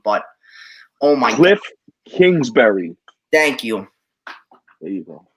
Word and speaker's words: Kingsbury: dude is special and having a very look glinksbury excuse me for if i'm pronouncing mispronouncing his name but oh my glyph kingsbury thank you there you go i appreciate it